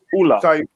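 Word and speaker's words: Ole: For instance, Solskjaer's name, or his first name is not pronounced right. If you go to Norway, they call him Ulla.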